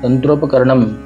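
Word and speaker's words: तन्त्रोपकरणम्: क्या इंडिकेट करते हैं, शब्द का उच्चारण पूरा स्टॉप के साथ में नहीं होगा, म नहीं होगा, तंत्रोपकरणम, इस तरह से इसको बोला जाएगा।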